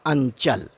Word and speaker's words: अंचल: देखेंगे तो समझ जाएंगे तो अंचल में अ के ऊपर बिंदी के तुरंत बाद जो अक्षर है वह है च तो इसलिए होगा अंचल अब टव के जो